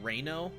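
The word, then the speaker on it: REINO: I like to call it Reno, as in Resident Evil in name only. So it's spelled R-E-I-N-O.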